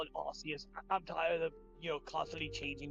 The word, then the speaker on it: Arceus: There isn't a correct pronunciation because it's translated, and generally speaking, Arceus is considered more correct due to it being closer to a Latin pronunciation, and considering Arceus' origin